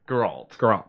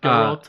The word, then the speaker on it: Geralt: Geralt. So I had it right the first time. Geralt of Rivia.